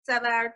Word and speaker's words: Sev: in the DC suburbs um my name is SE and I just go by SE it's easier to pronounce that way wow and and your UFO